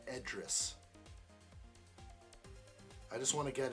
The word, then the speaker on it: Idris: You're saying it's pronounced with an E sound? Because there is an I, and you're saying that is pronounced Edris.